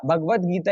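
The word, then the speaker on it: भगवद्गीता: इसका इसका प्रोनाउंसिएशन होगा भगवद भगवद गीता। भगवत गीता ही प्रोनाउंसिएशन होगा। वो लिखने का स्टाइल ऐसा है, बाकी इसको पढ़ते भगवत गीता ही है।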